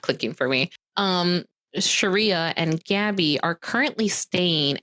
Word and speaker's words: Sharia: me it's it's not it is Sharia is it Sharia okay yeah but you're pronouncing it with an h i for some reason I want to say Syria for some reason and that's not right no so Sharia okay